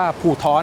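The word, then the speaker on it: 葡萄: ชื่อ มงคล ใน ภาษา จีน ที่ อ่าน ว่า ผู่ ท้อ ใน ภาษา จีน แต้ จิ๋ว ซึ่ง มัน มี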